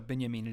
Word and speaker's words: Benjamin: heads and I yes it feels weird to pronounce Benjamin Binney I mean but if you don't you sound like an idiot to professionals in the field so Binyamin it is and the idea of